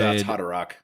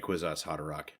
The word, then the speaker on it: Kwisatz Haderach: Kwisatz Haderach. Yep. Which is not how I pronounce it. I pronounce it with a lot harder H sound, much like I did with our guest last episode.